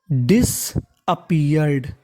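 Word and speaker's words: disappeared: डिसअपीयर्ड, अपीयर्ड, पी 2 बार है, उच्चारण 1 बार करना है, और आखिरी में ईडी है, तो मीनिंग बन गई डिसअपीयर्ड।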